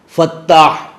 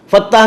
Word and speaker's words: فتاح: سے حلوہ لکھا جاتا ہے، وہ والی ہے۔ فتاح، فتاح کے دو معنی ہیں۔ فتاح کے ایک معنی ہے الفتح، کہتے ہیں کھولنے